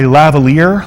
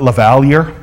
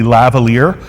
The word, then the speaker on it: lavalier: that's a stick microphone you also have a lavalier that's how you pronounce that not lavalier i've heard people try and pronounce it lavalier but it's actually lavalier a lavalier is the kind of microphone that